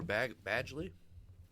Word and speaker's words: Badgley: 12 points for Badgley. That's how you pronounce it.